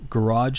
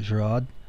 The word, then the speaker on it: Gouraud: um this is uh garage shading I think that's actually pronounced uh gerad um gerad was um